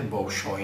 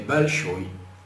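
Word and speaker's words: Большой: Mas a pronúncia não é Bolshoi, né? É Balshoi. Balshoi. Balshoi, porque a pronúncia é, quando aparecem os dois Os, ou mais, né? A gente coloca como se pronuncia o O somente naquela que é tônica, né? A outra se aproxima mais do A.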